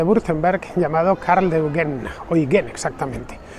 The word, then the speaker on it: Eugen: Bien, pues ese edificio lo hizo un conde de Württemberg llamado Karl de Eugen, Eugen exactamente. La I, la U en alemán se pronuncia como Oi.